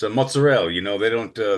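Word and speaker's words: mozzarella: It's you know it's a mozzarell you know they don't uh they don't pronounce the vowels at the end you know they clip it off mozzarell yeah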